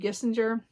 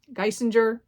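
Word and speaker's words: Geissinger: Then Falling by uh Christina Lauren, Spicy Little Curses by JT Gissinger. Gisinger, sorry I keep saying it wrong.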